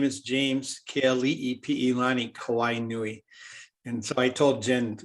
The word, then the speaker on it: Kawainui: So if you break it down into the syllables that they are, then you can actually say it. So example, my name, Kawainui. So it's Kawainui. Kawainui.